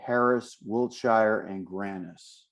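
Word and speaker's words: Harris, Wiltshire & Grannis: I'm your host and today I have Chris Wright and I'm going to make sure I pronounce the name of your firm correctly. Harris Wilshshire and Granis.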